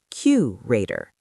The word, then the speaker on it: curator: Economist, stress on the second, curator, stress on the first.